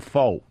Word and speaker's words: faux: And after my physical therapy yesterday, he's like, "Have you guys ever heard of Fab Faux?" As in F-A-U-X, Fab Faux. Faux, like fake.